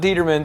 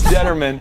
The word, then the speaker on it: Determan: We are back here with Deedra Determan, not Determan. Stop pronouncing it wrong. It's Determan. That's right.